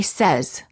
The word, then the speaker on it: says: The verb say is pronounced with an S sound in the past tense and in the present tense when it is followed by an S.